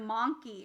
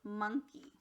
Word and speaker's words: monkey: word monkey my friends the o here went from ah to uh that's what we call a schwa so instead of monkey it's monkey okay read lum re bur